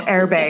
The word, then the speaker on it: Erbe: And then I mispronounced it anyway. So Erbe.